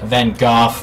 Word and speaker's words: van Gogh: Gogh as I've recently found out that is pronounced van Gogh painting oh I think this is it this